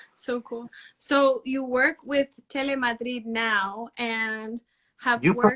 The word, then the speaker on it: Telemadrid: Telemadrid, yeah.